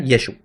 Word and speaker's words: Yeshu: Por eso yo digo, como se pronunciaba en la Galilea, era Yeshu.